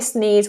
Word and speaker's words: sneeze: So just look at the pronunciation for that. Sneeze. And make sure we're getting that Z on the end.